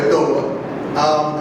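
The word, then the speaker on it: Adowa: Some people say Adawa. I've heard it from Africans in 2 different ways, but I'm going to say adoba.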